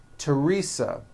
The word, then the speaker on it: Teresa: like to point out although these next words and names are spelled with a t H they are pronounced as if they were spelled with a normal T TT like that and